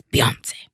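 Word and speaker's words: Beyoncé: If you're going to say her name, say it right. It's Beyonce. Beyonce.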